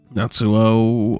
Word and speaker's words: Natsuo: Hello, Natsu Onigiri. Natsuo Onigiri, yeah, Natsuo. I knew I was saying it wrong.